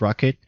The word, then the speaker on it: rkt: We also have RKT, which is pronounced as Rocket.